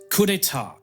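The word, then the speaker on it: coup d'état: It's pronounced coupeta.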